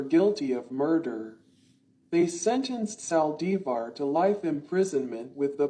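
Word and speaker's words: Saldívar: Yolanda Sal divar Spanish pronunciation born September 19th 1960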